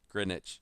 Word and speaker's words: Greenwich: what I was like, it's not Greenwich. Why am I messing this up? Greenwich Village. It's like British names where it's spelled like Gloucestershire, but it's just Gloucester.